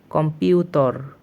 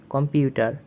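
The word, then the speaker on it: компьютер: আমাদের 15 নং ওয়ার্ডটি হচ্ছে কম্পিউটর। কম্পিউটর এটি আমরা বাংলা অর্থে বলি কম্পিউটার, বা ইংলিশেও কম্পিউটারই বলা হয়, যা রাশিয়ান উচ্চারণটি একটু ভিন্ন, যা হচ্ছে কম্পিউটর।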